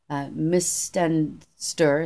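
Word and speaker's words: Mis-stan-stur: Mistenster is how they say it in that language.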